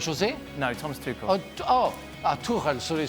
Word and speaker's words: Tuchel: Tuchel. Sorry, we say Tuchel. It's why Tuchel.